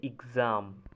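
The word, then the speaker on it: exam: দুইটা উদাহরণ দেওয়া আছে, একটা হচ্ছে বক্স, বক্সটা উচ্চারণ হবে বক্স, আর একটা হচ্ছে এক্সাম, EGZAM, এভাবে উচ্চারণ হবে এক্সাম।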